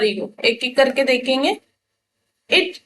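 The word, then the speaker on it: id: इट यानी कि इसको आईडी भी प्रोनाउंस कर सकते हैं, ठीक है।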